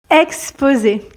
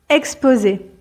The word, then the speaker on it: exposer: approfondies dans son article exposer exposer exposer ici le S se prononce comme un Z parce que vous l'aurez compris il est entouré de deux voyelles exposé donc exposer c'est